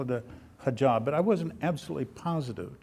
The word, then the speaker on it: hijab: Now, I believe it's a hijab. Did I pronounce that properly?